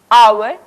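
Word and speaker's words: hour: लेकिन कई शब्दों में यह मोख यानी कि साइलेंट रहता है जैसे आवर ऑनेस्ट इ इस तरह के शब्द अब बारी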